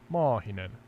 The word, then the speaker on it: Maahinen: But then I was wondering, Sky, can I teach you to say a long A in Maahinen? Certainly. Please go ahead and teach me how to pronounce Mahinen with a long A. Yeah, Maahinen. Just extend the A part slightly and it sounds better in Finnish.